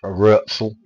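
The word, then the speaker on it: Rötzel: R-O, well, that's an umlaut on the O, I know that much. T-Z-E-L. So if that's Rurzel, that's his name.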